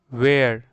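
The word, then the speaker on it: where: इसको हम पढ़ते हैं वेयर, ठीक है। वेयर, इसमें हल्का सा ह का भी साउंड होता है, ठीक है।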